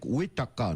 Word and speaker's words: Goitacá: Goitacá quer dizer Uitacá, né, o índio não pronuncia o J nem o G.